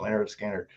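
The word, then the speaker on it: Lynyrd Skynyrd: I said, it's a band called Leonard Skinner. And he kind of looks at me real funny. He said, who? I said, it's called Leonard Skinner. I hand him the album cover. It's pronounced Leonard Skinner.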